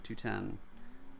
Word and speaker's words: 210: systems however let's do 210 pronounced 2-1-0 uh calm and skilled